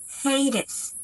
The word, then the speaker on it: Hades: Hades, the god of the dead. Повторяйте за мной. Hades, Hades.